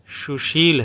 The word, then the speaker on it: सुशील: अगर इसको बोलते हैं जैसे सुशील है सुशील जो है उसका उच्चारण कैसे होगा सु शल इसमें तालव्य स है तो इसका उच्चारण शी होता है शी श और इसका उच्चारण स हो रहा है लेकिन इसका उच्चारण श